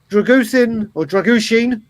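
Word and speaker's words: Drăgușin: If you look at that defence today, Dragushin, if you're going to pronounce it right, and Ben Davies looked very, very composed.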